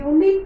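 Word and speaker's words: unit: ಸೊ ಅದಕ್ಕೋಸ್ಕರ ನಾನು ಇಲ್ಲಿ ಯೂನಿಟ್ ಅಂತ ಬರೆದಾಗ ಇಲ್ಲಿ ಯ ಅಂತ ಉಚ್ಚಾರ ಬಂತು, ಯು ಅಂತ ಉಚ್ಚಾರ ಬಂತು. ಅದಕ್ಕೆ ನಾನಿಲ್ಲಿ ಆರ್ಟಿಕಲ್ ಎ ತುಂಬಿದೆ, ಅ ಯೂನಿಟ್ ಅಂತ.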